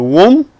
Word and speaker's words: womb: The B is not pronounced. The womb, the bomb.